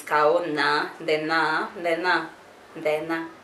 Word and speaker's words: Ndenya: Ndenya, Ndena, that's how you say it in Kamba. Ndena, Ndeto. Ndena, Ndeto. That's my name. Ndena, Ndeto. So you say nya, people say nya, but it's supposed to be na, because it's kao, na, Ndena, Ndena, Ndena.